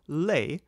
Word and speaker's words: les: hand the plural article Le spelled l s as in leash is invariable but do not pronounce the S the singular article is